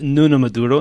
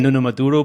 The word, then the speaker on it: Nuno Maduro: So, my name is Nuno Maduro. That's the way I pronounce it.